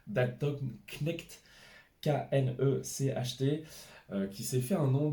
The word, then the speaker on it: Knecht: On a aussi, alors, en termes de prononciation, Dalton Knecht, Knecht, qui s'est fait un nom du côté de LA à Los Angeles.